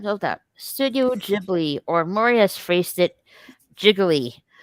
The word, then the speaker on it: Ghibli: mean she's like yeah do you watch Studio jiggly yet oh you need Ghibli it's not crazy for a second there I